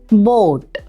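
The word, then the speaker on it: Boot: 2 ഓ വരുമ്പോൾ അതിനെ ഓ എന്ന് വേണം ഉച്ചരിക്കാൻ. ഹോം എന്നതിൻ്റെ ഉച്ചാരണം പോലെ. ഉദാഹരണം ബോട്ട്.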